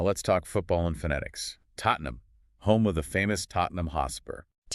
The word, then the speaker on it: Tottenham: accents, you might hear Tottenham with a glottle stop on that second T that makes the tea almost invisible. It's just a sensation of sound. Exactly. However, the most common nationally recognized pronunciation, the one you hear in stadiums and on news reports, is simply Tottenham. And even that is often reduced in rapid speech where the EN is swallowed, making it sound closer to Tottenham.